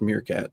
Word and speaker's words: Meerk40t: That's how it's pronounced officially. It's pronounced meerkat.